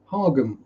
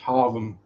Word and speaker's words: Hargham: So you might think Hargham or Hargham, but no, it's pronounced Harvham.